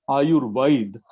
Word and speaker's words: AyurVAID: So what we do, and suddenly we pronounce our name as Ayurvaid, V-A-I-D.